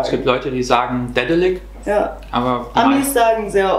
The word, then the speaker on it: Daedalic: Also, wie spricht man Dedelic eigentlich aus? Sag das mal jetzt mit deinem Donut-Zeug im Mund. Richtig. Dedelic.